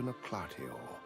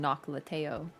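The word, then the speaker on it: Noklateo: pay a visit to Noclatio, the shrouded city. Noclatio? A place that was once part of a greater whole. Okay, that's much cooler than I was saying Noclateo.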